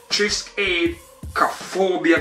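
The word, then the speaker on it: Triskaidekaphobia: I like track two, which is Trisk Aid Cophobia, guys. That one right there took me a while to pronounce, but I got it locked. So I'm saying Trisk Aid Cophobia, track two.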